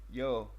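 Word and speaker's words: Yeoh: one with um michelle yo in yeah it's a weird spelling but it's like uh but it is pronounced yo michelle yell yeah yeah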